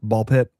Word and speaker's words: BALL x PIT: I don't know if they pronounce the X or not, but you don't. No. Okay. So, it's ball pit.